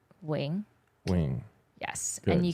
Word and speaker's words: Nguyen: That is how you say it. Wing.